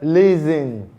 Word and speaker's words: listen: And we have the word listen, not listing.